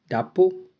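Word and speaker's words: drapeau: डे से डापो, डापो, डापो का मतलब होता है फ्लैग। जब भी EAU आता है तो उसको हम ओ प्रोनाउंस करते हैं, EAU मतलब ओ, डापो, फ्लैग।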